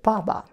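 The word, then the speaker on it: 爸爸: Pronounced as ba. But usually we double it. We say baba.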